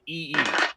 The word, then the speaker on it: Primanti: she's like, "We got Primanti brothers." I'm like, "That's too many consonants. There are not that many consonants in Permanis. It's Primanee. That's it. There you go. The T is silent."